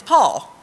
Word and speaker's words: Paul: Now, it took this Okie a few times to not say Paul and make it two syllables. I've condensed it down to one. It's Paul.